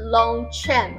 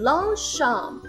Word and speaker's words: Longchamp: 不是 Longchamp 哦，是 Longchamp， Longchamp， C H 这里是发 sh 的音， Longchamp。